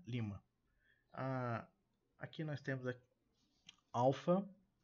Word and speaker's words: Lima: Ok Lima Lima tran primeira sílaba tônica Lima Ah aqui nós temos